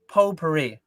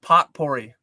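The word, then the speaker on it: potpourri: And it's pronounced po puri. My mom always calls it pot puri.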